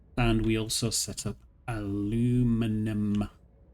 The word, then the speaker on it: aluminium: Uh so, we had concrete bricks and we also set up aluminum or aluminium as it's properly pronounced.